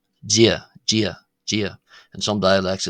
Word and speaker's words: Dia: So, the first d in g is slender and the second d in ditch is broad. Now to somebody who whose native language is English, such as myself, you'll often hear uh that the D in g sounds like our something like our English uh J sound.